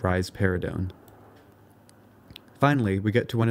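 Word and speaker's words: risperidone: this is rar parone you can remember that rise paradon gives rise to a pair of breasts by pronouncing it rise paridon finally we get to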